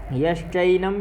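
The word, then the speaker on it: यश्चैनम्: यश्चैनम, यहाँ चै है तो आई का ही उच्चारण करें।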